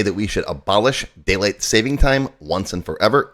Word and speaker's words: daylight saving time: daylight saving time and it's daylight saving time not savings time I know I catch myself saying it wrong from time to time